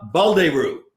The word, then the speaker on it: Baldeyrou: there's any problem a big welcome to Bal de rue did I'd say it arrived did I saw you again I pronounced your name right yeah and he could